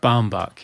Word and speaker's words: Baumbach: Palma documentary that I'm not sure how to pronounce this, Noah Noah Baumbach. Baumbach, yes.